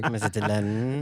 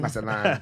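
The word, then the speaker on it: Mazatlán: Mazatlan. Mazatlan.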